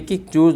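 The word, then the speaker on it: catch: सी ए टी सी एच इसको बोलते हैं कैच। इसको बोला जाता है कैच। तो कैच में ये जो टी है उसका कोई इसमें उच्चारण नहीं हो रहा है।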